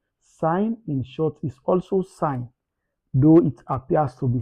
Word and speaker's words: sin: Mind you it is pronounced out out sign again as sign again sine in short form is sign again.